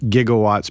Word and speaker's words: gigawatts: surge of energy, 1.21 gigawatts, which can also actually be pronounced gigawatts, but a lot of physicists can go with the G on that one, or the soft G.